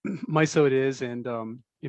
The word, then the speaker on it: MISO: abbreviated it's spelled like miso but it's actually pronounced myo is that right yeah that's right my so it is and um you know there's a